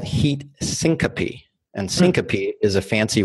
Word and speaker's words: syncope: less known heat related condition that's called heat syncope and syncope is a fancy word for fainting how do you spell it sy NC ope okay now heat syncope